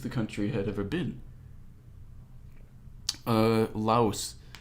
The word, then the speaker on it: Lao: Lao, that's technically how it's pronounced.